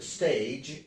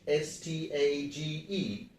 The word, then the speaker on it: stage: sounds like J, and you will pronounce it as stage instead of stag, as we pronounced in the previous word. So the last letter, second last letter of English alphabet, that is G, used in STAGE, is pronounced as J.